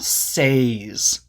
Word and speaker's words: says: Notice that when we add s, it's not says, it's says with a short e sound like read or bed. Says.